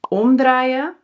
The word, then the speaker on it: omdraaien: Laten we beginnen met omdraaien en omcirkelen. Je hoort ook alweer het verschil in de klemtoon, denk ik. Omdraaien, klemtoon, omdraaien, dus die is scheidbaar. En omcirkelen, dus die is onscheidbaar.